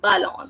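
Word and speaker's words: ballon: a l okay so the sound of letter B was bull and after that the word which is following it is a and B can it be coming it is becoming belong that's why we are pronouncing this as belong that means balloons so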